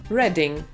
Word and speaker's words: Reading: klasyczne Reading czyli czytać tymczasem czyta się to Reading właśnie tak czytamy Reading rymuje się z No właśnie natomiast o